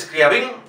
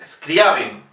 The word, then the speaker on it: Scriabin: Aquí no sé por qué motivo, pero en Radio Clásica dicen muchas veces Scriabin, es Scriabin.